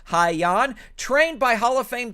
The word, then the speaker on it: Hyan: is of haiyan uh i looked up a bunch of videos on how to say her name and that's how i believe you say her name haiyon trained by hall of